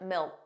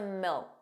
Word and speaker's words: milk: So did you hear that the final K sound, that K, was not pronounced? It was just a milk, milk. So you put your tongue in the position of a K, milk, but you just don't push out that sound.